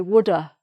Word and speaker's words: would've: have would have okay some people don't pronounce the V in would've they just say woulda I would err so